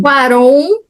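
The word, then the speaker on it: Cuarón: passado, feito pelo eh escrito e dirigido pelo Alcoron. É, é assim que pronuncia o nome dele, Afonso Quaron. Quaron que tem alguns cars aí e é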